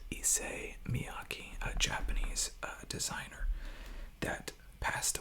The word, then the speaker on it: Issey Miyake: Now, I've heard this called a whole lot of different names, and I tried to check the correct pronunciation, and I came up with Issey Miyake, a Japanese designer that